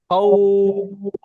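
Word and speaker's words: خوف: মূলত এটা হচ্ছে এই যে এখানে যে ওয়াওটা রয়েছে, ওয়াও, এই ওয়াওটার উচ্চারণটা হচ্ছে উপরের দিকে যায়, তাই না? এই জন্য এখানে হচ্ছে খাউফ, খাউফ, তাই না?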